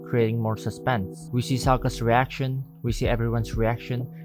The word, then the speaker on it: Sokka: But when you watch the live action, My name's Sokka, rhymes with Aka and Waka Waka.